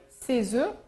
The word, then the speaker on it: œufs: œuf au singulier, quand il est écrit au singulier, on prononce le F, un œuf, mais au pluriel, comme ici, on ne prononce plus le F, ça fait ces œufs non fécondés.